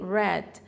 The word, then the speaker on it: read: resposta ficou heavy day red quando o verbo ride keller sai infinitivo e vai para o passado simples ou pro passado particípio ele vai ficar com essa pronúncia diferenciada que lembra a cor vermelha have then read the